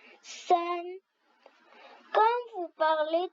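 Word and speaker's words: 三: 3 en chinois, ça prononce san.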